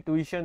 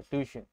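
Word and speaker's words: tuition: इसकी प्रोनाउंसिएशन ट्यूशन होती है, याद रखिए, ट्यूशन।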